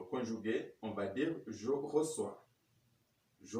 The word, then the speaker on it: reçois: La lettre C suivie par les voyelles A, O et U va avoir la prononciation ou le son K.